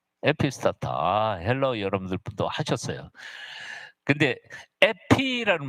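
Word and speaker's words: ἐπιστάτα: 타우에서 T 발음이고 알파니까 아 발음이에요. 타우 알파 그래서 여러분 그냥 읽을 수 있어요. 뭐예요? 에피스타타예요. 에피스타타. 에피스타타.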